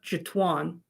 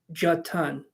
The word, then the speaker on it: Jatun: So it's not Jatuan. J Tuan. If your name's not Greg, I don't know how to pronounce it.